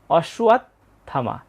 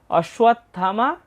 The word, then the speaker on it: অশ্বত্থামা: ত যোগথ এখানে তাহলে ত এর উচ্চারণটা অর্ধেক হবে। অসুয়াত। এর থ আকার ম আকার। অসুয়াত থামা। এরপর বিকর্ণস চ। আমরা দ্বিতীয় লাইনে প্রথম চরণটার উচ্চারণ পেয়ে গেলাম। অসুয়াত থামা বিকর্ণস চ।